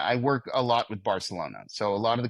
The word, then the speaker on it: Barcelona: You're supposed to Barcelona. Bar it's like more of a th sounding.